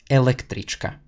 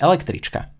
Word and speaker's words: električka: Now, make sure to really put the accent on the first one and not on the second or third syllables because it'll sound very iffy.